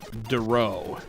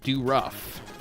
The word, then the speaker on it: Duro: It wasn't like a large school, So, my last name's pronounced Duro. However, unfortunately, it sounds like, or it looks like, Do Rough. So, I got lots of, oh, it's Do Rough. And then everybody would laugh. They're gonna kill you. Well, I always want to put the emphasis on the first syllable.